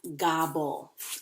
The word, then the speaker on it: gobble: The L-E, remember the E is silent.